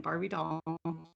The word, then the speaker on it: Barbi Dahl: Now, is that the correct way to address you, Barbi, both in the pronunciation of your name and your title? Yep, you got it both ways. Psychic Medium and Barbi Dahl.